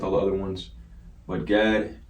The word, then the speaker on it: Gad: The next one we got is the tribe of Gad. All right, and it sounds exactly how it's spelled.